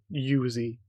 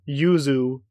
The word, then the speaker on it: Yuzu: Okay, so that is just a Yuzi. Um, Yuzu for the pronunciation.